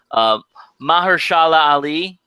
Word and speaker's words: Mahershala Ali: I think in the first segment, I'm going to screw up the pronunciation of his name, unfortunately, but Mahershala Ali.